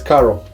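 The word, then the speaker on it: Каро: logo but that's written in CC so you pronounce it as Caro small tip I'm originally from Bulgaria and this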